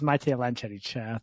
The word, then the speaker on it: Matej Lancaric: My name is Matej Lancaric.